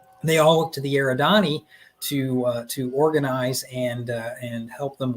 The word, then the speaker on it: Eridani: So these guys here, tell us about you pronounce that word, I'm sorry. Eridani.